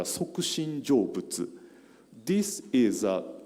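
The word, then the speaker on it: 即身成仏: Japanese pronunciation is a Sokushin Jōbutsu.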